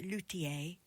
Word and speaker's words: luthier: September, a luia or as I've heard I've heard it pronounced Lutier, but I I feel a bit knobbish if I say that. So, I'm I'm going to stick to Luthia, okay, for now until